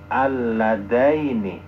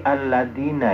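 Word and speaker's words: اللذين: Bukan arina yang salah, tapi bacaan ayat al-ladaini. Tidak mesti al-ladina ya. Teman, tulisannya sama, tapi bacaannya beda.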